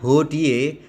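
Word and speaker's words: hodie: maka dibaca K dan di belakangnya hoodie e-h itu tidak diucapkan maka Woody fanem nostrum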